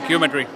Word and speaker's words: Qmetry: Qmetry. here we have our friends from Qmetry. Did I pronounce it well? Yeah, that's right, Qmetry.